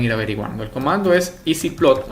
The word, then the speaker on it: ezplot: El comando es EasyPlot, así se pronuncia, EZPlot, EasyPlot, y luego escribo la función.